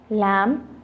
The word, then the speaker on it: lamb: chalk L silent है, lamb यहाँ पे हमारा B साइलेंट है, विसल यहाँ पर हमारा T साइलेंट है।